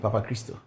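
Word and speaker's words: Papachristou: Christo. It's Greek. It sounds like Ghanaian, Papa Christo.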